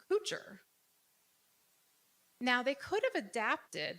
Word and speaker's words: Couture: my name is pronounced Couture not many of you who thinks my name is pronounced coocher you're all correct so my ancestors on